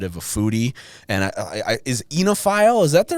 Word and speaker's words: oenophile: And is Oenophile, is that the right way? Did I pronounce that right?